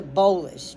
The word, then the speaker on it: bolus: When the when the swallow food drops into your stomach, comma, it's referred to as a bolus.